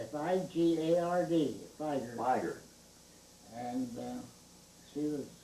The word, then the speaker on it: Figard: How's her last name pronounced? Figard, F-I-G-A-R-D, Figard.